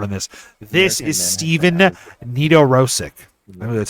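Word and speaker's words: Nedoroscik: This is Steven Nedorosik.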